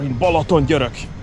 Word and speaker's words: Balatongyörök: also rather absolutely fantastic sign hunters we are volatile Yurok that's how you pronounce it everyday food is ready in a